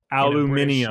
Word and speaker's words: aluminium: Aluminium. In a British accent. That's just not correct. There's an extra syllable in there. They throw an I at the end.